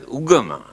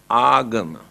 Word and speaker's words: agama: Here now they pronounce as ugama, but the original word is agama.